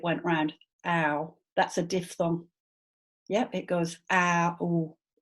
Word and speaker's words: diphthong: A lot of the time I hear it pronounced diphthong, and I get it. I see why, because DIP, they're all adjacent letters, but actually the di bit is over here and the thong bit is over there.